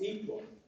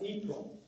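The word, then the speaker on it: Yhprum: And it's spelled Y-H-P-R-U-M. Pronounced Yprum. No idea. Anybody ever heard of that? Spell it again. Y-H-P-R-U-M. It's pronounced Yprum.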